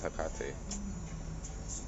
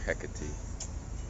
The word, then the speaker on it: Hecate: energy this weekend that was that was hakkate right or hecate however you want to pronounce this goes back to